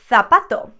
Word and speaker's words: zapato: are from south america in most latin american countries the letter z theta sounds like an s however in spain and i know this is a very common sound that you guys like to make fun of and you say that we've got a lisp and makes the sound t h like in third thirsty okay that kind of sound for example i would say zapato but some people from